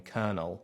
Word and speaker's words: colonel: then for whatever reason the English adopted the French spelling alongside the Spanish pronunciation coronal becoming konel it's okay we're nearly